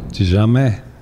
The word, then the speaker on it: tizameh: De jamais.